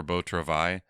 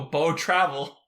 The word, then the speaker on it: Beau Travail: came out except for Beau Travail, which shot up from 73rd to be number 6 now. Oh! I didn't know that's how you pronounce it. I always go Beau Travel.